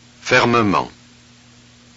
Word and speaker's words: fermement: Okay, look, in the following words, the vowel E is pronounced. Look and listen. Fermement.